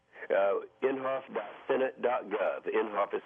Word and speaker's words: Inhofe: uh we go to your website how uh inhoff dos senate.gov inhoff is spelled I NH h f inhoff dos senate.gov